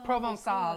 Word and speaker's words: Provençal: So Provençal.